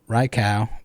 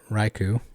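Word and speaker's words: Raikou: pokemon name though first for instance raiku is raikao but in english we say raiku anti is anti anti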